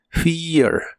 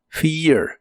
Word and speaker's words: fear: de inglés es fear la e de este verbo se pronuncia como una I larga y la a se pronuncia muy suave fear fear en el presente lo